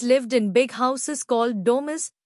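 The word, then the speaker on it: domus: इन big houses called डोमस pronounced डोमस they had gardens कॉटयार्ड्स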